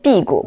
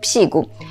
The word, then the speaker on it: 辟谷: 言，他的意思是应该念辟谷，不是辟谷。我记得在中国的时候也听到大部分人发音是辟谷，但是现在的全拼电脑打字呢，它拼音显示的是辟谷，所以我还是按辟谷来发音。